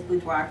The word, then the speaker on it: boudoir: And this blog is going to focus on what is boudoir photography. And what many of you asked is, how do you pronounce it? Well, it's a French word and it's pronounced boudoir, boudoir, and it translates into a woman's private dressing room or bedroom.